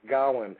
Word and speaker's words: Gowen: He told me how to say it, and I still can't say it. It's Gowen.